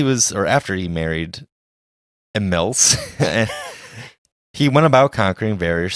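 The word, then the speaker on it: Imilce: I looked it up and there's like 3 different ways to pronounce it, so. It's always me. It's I-M-I-L-C-E. I think it's Emiles. Or Milka?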